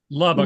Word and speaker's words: Lubbock: That's how you pronounce the court? Lubbock. Look Park. Oh, Lubbock.